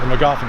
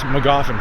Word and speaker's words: Magoffin: I forget the pronunciation like with magazine County or Magoffin County I think it's Magoffin County but anyways so there's